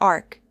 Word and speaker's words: arch: It can be pronounced as arch or ark.